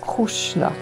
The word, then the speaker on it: Krishna: cette partie de l'INE Krishna se prononce krushna sous l'influence du grec et de l'hébreu krushna devint krusta puis